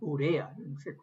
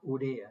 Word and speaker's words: urea: Bueno, el urea, se pronuncia urea, ¿no? Porque no lleva tilde urea, la urea, ¿no?